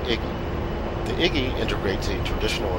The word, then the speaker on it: EGI: embeded GPS ins or egi often pronounced Iggy the Iggy integrates a